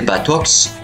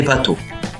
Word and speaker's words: bateaux: Il faut retenir également que le X il est mué, il ne se prononce pas. Donc nous dirons pas des batox mais des bateaux.